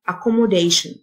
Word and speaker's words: accommodation: إقامة accommodation، T-I-O-N تنطق شن، accommodation.